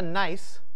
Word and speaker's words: gneiss: And on the end of the table here, we have a gneiss that's spelled G-N-E-I-S-S.